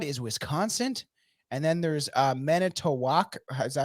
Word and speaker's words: Manitowoc: On one side is Wisconsin, and then there's Manitowoc. Is that how you say it? The one that you Yeah. asked, Not that one. Manitowoc. It's on the other side of Michigan in fucking Manitowoc? Manitowoc, yeah.